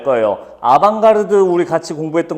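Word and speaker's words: avant-garde: 사람들은 다 알 거예요 아방가르드 우리 같이 공부했던 거 기억나세요 그때 빠진 사람 다시 들어요 다른 질문이랑 또 연결이 되어 있어 어드밴스드 가드를 프랑스어로 읽으면 아방가르드라고 읽습니다 여러분들이 TV 볼 때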